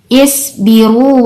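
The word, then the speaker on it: اصْبِرُوا: Di sini kita lihat ada kalimat isbiru wa sabiru.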